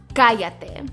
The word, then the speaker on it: cállate: Okay, next we have cállate. Cállate. But remember, the double L is pronounced like a Y.